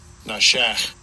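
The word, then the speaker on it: נָשַׁךְ: And we can even go and take a look at it, the root of the word, and get a pronunciation of it. Strong's H, 5391. Nashach.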